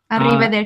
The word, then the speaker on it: arrivederci: Yeah, yeah, when you have the R sound, you have to roll your R's. You would yes, say. Yes. Use yes. Arrivederci.